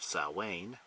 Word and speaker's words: Samhain: traditions including or particularly Samhain which is actually pronounced something more along the lines of Sal Wayne and why are contemporary spelling of it doesn't match the way it's supposed to be pronounced I don't know okay